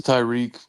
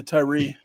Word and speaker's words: Tyrie: But hey, he committed earlier today, so I thought it was Tyreek. That's my bad. Yeah, Tyrie.